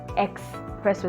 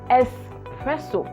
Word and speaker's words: espresso: it it is not expressed there is no x it is espresso s pressure not x pressure i don't know where